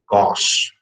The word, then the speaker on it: gauche: It may be gauche, gauche, okay, gauche, we will pronounce it gauche.